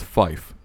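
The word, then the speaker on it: five: 5 phonetically is fife, F-I-F-E.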